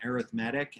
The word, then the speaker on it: arithmetic: Notice how I'm pronouncing that. I'm saying arithmetic and not arithmetic. Arithmetic is a noun, and it means, you know, doing addition, subtraction, multiplication, division. Arithmetic is an adjective.